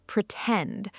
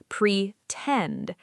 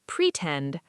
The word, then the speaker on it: pretend: Pronunciation, pretend. The stress is on the second part, pretend, not pretend, pretend.